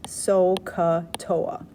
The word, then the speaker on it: SOHCAHTOA: hypotenuse tangent is opposite over adjacent you could pronounce this sohcahtoa you're gonna pick the trig ratio that has